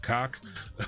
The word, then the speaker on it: coc: It is, I hope Twitch doesn't ban me, but it is pronounced cock with COC.